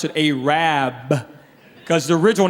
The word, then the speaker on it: Arab: who's mine in the store how about arab it's spelled a-r-a-b they don't pronounce it arab they pronounce it a rabb because the original name was a rad but